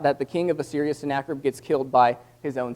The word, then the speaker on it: Sennacherib: But the spelling looks like Sennacherib, but it's pronounced Sennacherib.